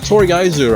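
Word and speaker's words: とりあえず: And so the confusing thing about Toriaizu, right? You hear the fuck say Toriaizu, but the syllables in it, one of which is silent, is Toriaizu.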